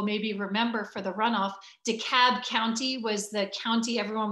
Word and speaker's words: DeKalb: of America understood that the L was not pronounced in DeKalb County. It's not DeKalb County, but DeKalb County.